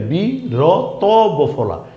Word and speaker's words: বীরত্ব: স্থান থেকে আরেক স্থানের ব্যবধান দূরত্ব এই শব্দটা বীরত্ব ব দীর্ঘ ইকার বি র ত বফলা বীরত্ব এখানেও কিন্তু সেম ত এর নিচে বফলা আসাতে ত এর ডাবল উচ্চারণ হয়েছে বীরত্ব এই শব্দটা কি ঘনত্ব ঘ